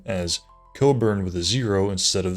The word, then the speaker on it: Cockburn: In February 2004 in Scotland, Craig Coburn, it's spelled Cockburn, but it's pronounced Coburn, was unable to use